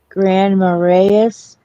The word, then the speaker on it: Grand Marais: That's how I would pronounce that, Marais. Greg. Marais. Marais. Okay. I was close. It's almost like Grand Marnier. There's no in in that. I said it's no R in it either.